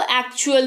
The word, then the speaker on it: actual: फिर है ACTUAL, यहां पर टी के बाद UAL है तो इसको एक्चुअल पढ़ लिया, टी का उच्चारण च पढ़ लिया, बन गया एक्चुअल, जिसका मतलब होता है असल।